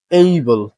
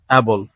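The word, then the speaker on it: able: mystery mystery history mystery এইবল নট এবল এইবল কেপেবল এইবল কেপেবল তিনটে একই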